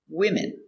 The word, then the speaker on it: women: Three four women. One woman. Two women. Let's look at the pronunciation closer.